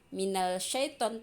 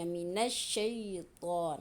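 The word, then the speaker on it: من الشيطان: Jadi cara membacanya bukanlah 'minal shaytan' tetapi langsung digabungkan ke dalam huruf syamsiyah. Minasy-shaytan. Huruf alif lam tidak dibaca dengan jelas.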